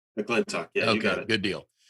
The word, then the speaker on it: McClintock: I pronounced McClintock right, correct? McClintock, yeah, you got Okay, it.